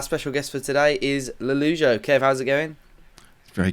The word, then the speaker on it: Lollujo: man and our special guest for today is lalujo kev how's it going very good thank you